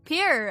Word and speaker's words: Pyrr: Hi, I'm Pyr or Pyr. I don't really care what people, how people say my name.